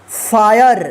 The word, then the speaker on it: fire: देखिए यहाँ पे ई वाले रूल में पढ़ा था आपने कि लास्ट में ई रहे, इससे पहले अगर आई आता है वोवेल तो उस आई का आई उच्चारण होगा, ई का कोई उच्चारण नहीं होगा।